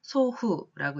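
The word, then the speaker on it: 祖父: 먼저 아비부자 한 글자만 쓰여 있으면 치치라고 읽고 우리는 아버지라고 읽습니다. 그리고 그 다음 한자 한국어로는 조부라고 쓰여 있습니다만 요거를 소후라고 읽고 조부, 할아버지란 뜻이 되겠죠.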